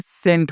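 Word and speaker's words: cent: तो यहाँ पे देखिए जैसे सी एन ई एन टी क्या पढ़ेंगे, सेंट पढ़ेंगे, है ना, यानी सी का उच्चारण स हो गया तो सेंट पढ़ेंगे।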